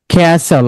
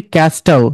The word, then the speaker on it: castle: apostle, bristle, slash, bustle, বাসল, আমরা কি বলি বাস্টল না, তারপরেরটা castle, ক্যাসল, আমরা কি বলি ক্যাস্টল না, এটা হবে ক্যাসল।